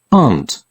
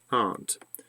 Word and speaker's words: aunt: Mary and and so this is American pronunciation aunt aunt so I have two